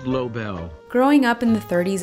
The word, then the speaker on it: Lobel: I realize he has one of those names with a bunch of different pronunciations. Lobel. Lobel. Lobel. But thankfully, this handy website has author recordings. Hello, I'm Arnold Lobel.